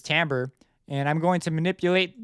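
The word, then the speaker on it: timbre: went to the tambra window even though Lucy is spelled Tim Bray it's tambor and I'm going to manipulate this is controlling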